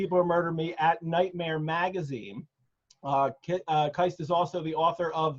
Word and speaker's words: Keist: Did I say it right? Is it Keist? You did. You said it right.